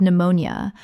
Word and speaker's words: pneumonia: N-E-U-M-O-N-I-A Three syllables in natural speech. The P is completely silent and the N-E-U-M-O-N-I-A collapses. Example. He was hospitalized with pneumonia but responded well to treatment and was discharged after 5 days.